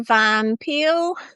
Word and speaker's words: van Peer: Anyway, so today I am with uh Vanpil. Yeah, I can imagine to pronounce my name like the fruit the pear, you know.